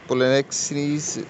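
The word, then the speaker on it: Polixenes: अच्छा, इसका जो दोस्त है पोलोनेक्सीज एक्चुअल इसकी प्रोनाउंसिएशन है पोलोनेक्सीज जो है वो लियोनिटीज का बड़ा गहरा दोस्त है।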